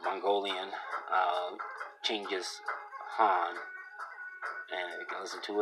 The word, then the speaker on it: Genghis Khan: His name is pronounced Genghis Khan, or usually Genghis Khan, a Mongolian, Genghis Khan, and you can listen to it.